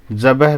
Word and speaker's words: ذبح: نظم میں ایک لفظ ذبح بھی آیا ہے، اس کا صحیح تلفظ بے اور ہے پر جزم کے ساتھ ہے، اس لیے ان